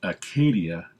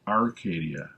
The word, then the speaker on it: Acadia: get some terminology out of the way it's pronounced Acadia nach Arcadia there is no are also Baja ba is